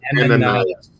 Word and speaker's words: Ananias: No, the way I pronounce it, and there could be some variant of it, but it's Ananias.